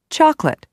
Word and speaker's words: chocolate: aspirin separate chocolate family the first e in interesting the first I in Aspirin the first a in separate the second o in chocolate and the i in family are all dropped so that you hear interesting aspirin separate chocolate and family some of the words